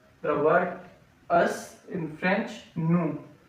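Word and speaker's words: nous: So o u we are using here n o u s we say n s is silent n o u s new in English we can say us.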